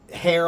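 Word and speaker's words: hare: Um and then the last word h a r e is hair pronounced the same as hair on your head but that is talking about a rabbit.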